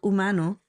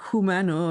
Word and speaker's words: Humano: in a documentary called Humano. Very, very, very good. Very good. N-O, I think, Humano. Yeah, Larry pronounces it Humano or something. Humano. It's like human. Yeah. And with an O at the end.